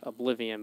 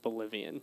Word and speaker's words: Oblivion: But this guy would always call in and ask if we had Oblivion, but he would pronounce it Bolivian.